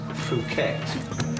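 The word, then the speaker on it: fouetté: exactly Ed I think your findone is pronounced fuette actually all right then tomorrow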